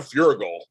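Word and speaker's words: Feuerriegel: Oh yeah, my girl, Tosha Story, who plays Naya on Naya, and Dan Furigal. Oh my God, Dan is tall. Dan is the bomb. I pronounced his name correctly.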